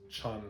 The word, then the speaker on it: Chan: It's Chanhee, but I just go by Chan. is my nickname. means darkness in Korean, but that's not my real name. My real name is Chan. And it's Chan, CH, not Tan, not Sun, like...